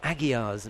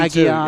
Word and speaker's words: Aguiar: to Marcus Batten, who corrects me on the pronunciation of Mayra Aguiar's name. Aguiar, rather than Aguiar.